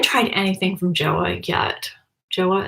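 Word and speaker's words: Jouer: Joa is how you say it.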